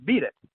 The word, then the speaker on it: BDIT: inheritor's trust which is abbreviated bdit which i would pronounce beat it now i wouldn't never name my technique after michael jackson's song um so i don't